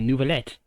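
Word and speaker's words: Neuvillette: Wait, Nervillet? Could he be... No, but I was incorrect. Should I hop in and call pronounce it for you? No, I think Paimon just said it correctly. Nouvellette.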